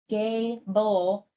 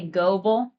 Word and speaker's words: Gable: It's pronounced Gable. Uh, a lot of people try to say goel.